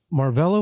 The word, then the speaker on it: Marvella: Marva is the most common way to say my name. Okay. Um I get Marlla. Marlla is how I grew up.